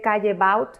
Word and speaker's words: Callebaut: Se escribe Callebaut y se dice Callebaut.